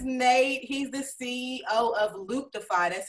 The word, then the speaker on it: Looptify: this is nate he's the ceo of luke defy that's how you pronounce it yes okay perfect perfect he's in